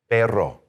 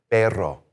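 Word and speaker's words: perro: The double R is going to be what we call a trill, which is you're going to trill it like that with your tongue. So, P E R R O. Now, this word we add an R. It means dog. Let's try this one. Take the air out, do your vowel sounds, trill it, and say this.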